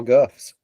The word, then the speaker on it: Gulf: They always pronounced it without the L. That's just because we live in the south. Well, that's the only place they were, but they were all guffs.